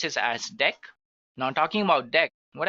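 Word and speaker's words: deque: It is written as dq but we can pronounce this as deck. Now talking about deck what actually it is used for. So deck pronounced as deck is an optimized list to perform insertion and deletion easily.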